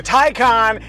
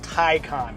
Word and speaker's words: Taycan: saying the name wrong the thai khan is like noted film composer han zimmer but first information explosion